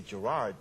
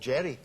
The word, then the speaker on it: Gerard: And I said, well, you say just Jerry, because when Americans say Gerard, it drives me crazy.